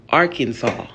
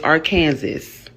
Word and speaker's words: Arkansas: That says our Kansas. R Kansas. That's how we were taught how to read to sound that out. Nowhere in this word would you get saw from it.